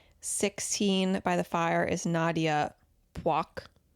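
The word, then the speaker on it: Nyadiew Puoch: 16 by the Fire is Nadia Poik. Nadia Poik. I appreciate the correct pronunciation on the broadcast.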